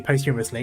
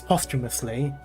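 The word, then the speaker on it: posthumously: suppose it wouldn't be post humorously it's still there but you get what I mean also it's not post humorous anyway it's post humously [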